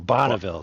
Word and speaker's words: Bonneville: how are the Bolivia it's not Flats oh Bonneville there you go they sound similar they sound similar though pronounced it wrong yeah I know Bonneville neither